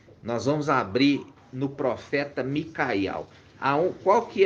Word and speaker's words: Miqueias: Então, se pronuncia Micaial, e Mica significa o que, irmã Adriana?